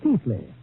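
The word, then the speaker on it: Keighley: ancestral town of Keeley well pronounced in England Keithley although how they made Keithley out of ke i g hle e y I'll never know but that is my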